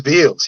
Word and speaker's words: Beals: And I know you taught me this, and I'm just going to mispronounce it again. Um, Beals? It is Beals.